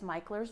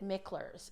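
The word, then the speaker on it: Mickler's: One of my favorite spots is Michler's Landing. Do not pronounce it Michler's. You'll immediately be called out by the locals.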